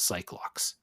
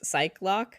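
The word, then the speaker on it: Psyche-Lock: I do find it interesting you pronounce it as psych lock. Oh. That is also how I pronounced it mentally and verbally, I suppose. Yeah, Cyclock. I suspect that the game may be going for psyche lock, as in this person is trying to hide something so hard that they have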